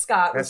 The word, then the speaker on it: Scott: o t skot okay it's actually just Scott tagged in the video that's how we would say it in flatb Brooklyn bit and skit out